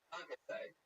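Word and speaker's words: concassé: Concasse.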